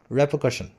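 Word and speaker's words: repercussion: ये कुछ बच्चे यहाँ पे कर लगा देते हैं, कर्शन, ऐसा नहीं होता ये है कशन और ये है रैपर।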